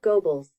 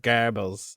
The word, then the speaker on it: Goebbels: says gobbles gobbles yeah it's pronounced g-o-w-b-l-z i could play that again for you joseph goebbels yeah but do you